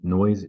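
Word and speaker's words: Noyes: uh a man named noise Chapman identity is a postmaster in Canada his name is not the unpleasant sound it is spelled n-o-y-e-s he ostensibly invented it into 1876.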